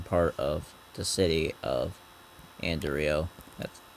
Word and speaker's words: Anderio: Kind of suburbia in a sense, but in the northern part of the city of Anderio. That's how I pronounced it.